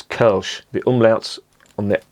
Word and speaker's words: Kölsch: the point of course it's not pronounced colsh it's kerch the umlauts on the